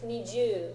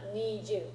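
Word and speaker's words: にじゅう: Make sure it's niju, not niju. You gotta make sure you got the long vowel in the right spot.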